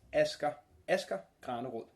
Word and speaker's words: Asger Granerud: And I'm here with Asger Granerud. That's good enough. Yeah? How do I say it? If you pronounce it in Danish, it's Asger Granerud. Asger Granerud, as I said.